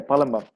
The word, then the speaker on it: Palembang: took a contract work in, I think you pronounce it Palembang? Yeah, Palembang.